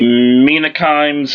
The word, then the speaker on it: Mina Kimes: Mina Kimes is how you say it.